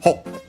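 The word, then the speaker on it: ほっ: Okay, so we have all these different exclamations, in this case ho, with also the small su at the end, so also an abrupt end after it, ho.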